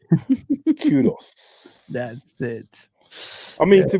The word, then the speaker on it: Kudus: Kudos.